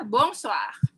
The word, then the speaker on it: bonsoir: Nah, kalau selamat malam, kita ngomongnya adalah bonsoir. Bonsoir. Bonsoir. Bonsoir. Bonsoir. Jadi kalau BON dalam bahasa Perancis itu adalah bon, dan OI itu dibacanya oa, jadinya bonsoir.